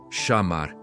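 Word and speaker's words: שמר: A palavra é chamar, que se pronuncia chamar.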